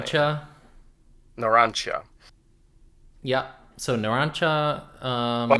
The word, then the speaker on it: Narancia: How do you pronounce Narancia's last name? Narancha.